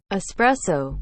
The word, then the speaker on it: espresso: of people enjoy good espresso in the morning except no they don't it's spelled how it's said espresso with no x in sight number three we all